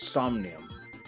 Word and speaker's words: Somnium: there's a minion files yes it's stacked it's pronounced somnium insomnian files yeah hi crest welcome to the